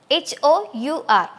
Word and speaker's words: hour: with the sound H, H-O-U-R. But when we are pronouncing it, we are not pronouncing the sound H.